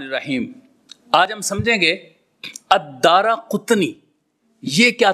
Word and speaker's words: الدارقطنی: آج ہم سمجھیں گے۔ الدارقطنی کا تلفظ ہے، دال کے اوپر زبر ہے، پھر اس کے بعد الف ہے، پھر اس کے بعد را کے اوپر زبر ہے، پھر قاف کے اوپر پیش ہے اور تا کے اوپر جزم ہے